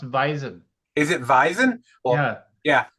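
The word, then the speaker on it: Vaesen: Like I'm a big fan of Vasin. I'm a big fan of Yo, it's I just pron it's pronounced Visen.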